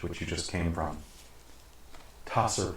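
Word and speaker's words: Tser: Tasser Pool, that's T-S-E-R, or Sir Pool, to the northwest, and Ravenloft / Wallaki, that's V-A-L-L-A-K-I, to the southwest.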